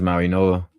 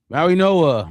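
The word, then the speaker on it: Mauigoa: Francis Maui-Noa. Maui what? Yeah, it's a weird pronunciation. You wouldn't think the G is pronounced as an N, huh? It's something like that. I got you. Maui-Noa, Makai Lemon, first or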